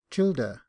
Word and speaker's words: children: Footnote: Childer. This is the manner in which many of Thady's rank, and others in Ireland, formerly pronounced the word children.